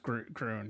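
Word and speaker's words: Gruene: Yeah, well, it's actually pronounced Groon.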